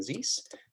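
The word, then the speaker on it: Ziese: This is me, Zeiss. Last name, it's Z-I-E-S-E. It rhymes with peace.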